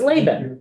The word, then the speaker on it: Laban: we have Laban, which I will confess, I thought it was BAN all these years. It's pronounced that way. No one ever gets it right. So good that you envisioned it that way. Okay, so it's Laban. Yes, it's Laban.